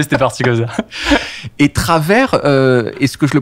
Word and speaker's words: Travers: Travers. Travers. Ça fait Travis quasiment quand c'est mal prononcé. Ouais. Mais ouais, en gros, c'est ça. Je prononce le S.